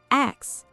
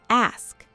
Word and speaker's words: ask: Next, people say ax instead of ask. Say it slowly with me. Ask, ask.